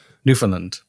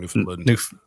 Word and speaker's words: Newfoundland: newfoundland by the way you'd pronounce the land newfoundland yeah you were saying newfoundland newfoundland newfoundland different land